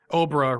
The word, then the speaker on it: Obra: The hint he gives is that Obra rhymes with Cobra.